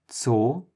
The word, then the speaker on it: Zoo: This is pronounced basically like a T and an S together. So try to make those two sounds together. First the T, then the S. T, S, T, S, Ts, Ts. The only English word I